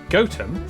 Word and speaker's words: Gotham: toester toter then a quick J to Gotham goam followed by a stop in quernmore quma before